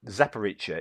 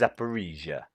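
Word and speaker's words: Zaporizhzhia: of Asia so that makes me think zepparicha isn't separicha but it's zapparesia zaparesia I don't know who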